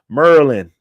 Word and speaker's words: Maryland: the Big 10 conference merland is how they say it shout out to everybody